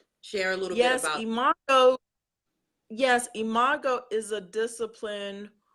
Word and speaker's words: imago: Yes, imago, Can you yes. a little bit about that? Because again, that was new to me, and I was like, oh, what is that? Share a little bit about imago.